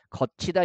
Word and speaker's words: 걷히다: 축약이 되고요 그 다음에 한국인이라면 본능적으로이 발음 걷히다가 아니라 어떻게 발음합니까 거치다 이렇게 발음하게 되는데 여기서 잡아주는 이런 거예요